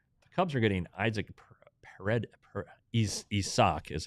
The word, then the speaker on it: Isak: The Cubs are getting Isaac Isak is how it's pronounced.